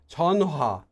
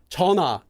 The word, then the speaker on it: 전화: It is 전화 if you're saying it slowly, but if you're saying it as one word, 전화. That H, 전화, it goes away because all it ever was is extra air.